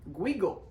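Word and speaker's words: Guigal: Gigondas, Crozes-Hermitage, or as I call them, Guigo, rhymes with Smeagol.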